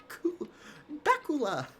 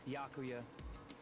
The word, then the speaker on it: Byakuya: Bakula. It's Byakuya. Byakuya. Okay, that's how it's pronounced.